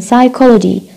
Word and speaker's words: psychology: p as in psychology.